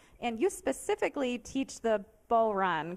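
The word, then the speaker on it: bodhrán: online i assume and you specifically teach the bull run correct am i saying it right yep yep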